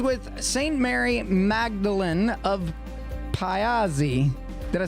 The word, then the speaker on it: Pazzi: Mary Magdalen of Pazzi. Did I say it right? It's close enough. Close enough. Well, how would you say it? We normally just say Pazzi.